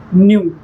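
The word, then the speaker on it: knew: इसका second form होता है न्यू। अब हमें याद रखना है कि न्यू में के साइलेंट है।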